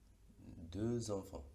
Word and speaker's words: deux enfants: En el segundo caso, deux enfants, la X tiene el mismo sonido, deux enfants, S.